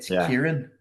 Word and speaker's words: Kieran: Yeah, is it a ch sound at the beginning? Everyone thinks it's a ch, but it's a k. It should be a k. So it's Kieran.